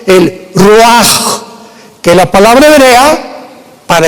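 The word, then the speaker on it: רוח: El roaj, que la palabra hebrea para espíritu.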